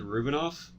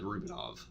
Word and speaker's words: Rubinoff: Jake said Rubinov Yeah. when he Sorry. said it. I don't know Oh, how to pronounce things.